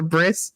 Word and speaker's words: bris: does the circumcisions at the briis with a bris not Brie Breeze je I never knew they